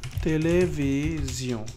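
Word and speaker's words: télévision: যেটাকে বলেন পরে লা তেলে ভি জিও এটা কি হবে বলেন তো লা তে লে ভি জিউ সিও হবে না এটা জিও হবে কারণ এস টা দুইটা ভয়েলের মাঝখানে জ উচ্চারণ হবে তাই না লা তেলে ভি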